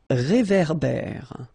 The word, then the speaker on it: réverbère: Un réverbère. Final not pronounced. Un ré. So here you've got this accent aigu, et, and then here you've got this accent grave, é. Okay, et, é. So it goes like réverbère.